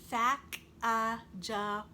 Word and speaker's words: Sacagawea: about an indian girl she has a fancy name sacagawea you say it like this sak ah later miss glass has